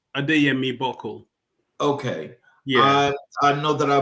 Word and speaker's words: Adeyemi-Buckle: Um the the last name is pronounced Adame Bole.